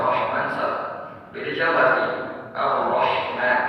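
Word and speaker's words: الرحمن: Ar-Rahman harus ha, kan Ar-Rahman.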